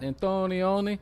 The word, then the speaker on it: Antonioni: it's the Italian director Michelangelo antonioni I think you got it got it antonioni the only my only